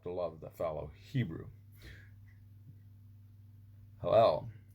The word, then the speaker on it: Hillel: And I pronounced that wrong for many years, but it's Hillel.